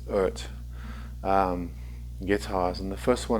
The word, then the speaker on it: EART: while to dive into the earth earth sorry it's pronounced ert guitars and the first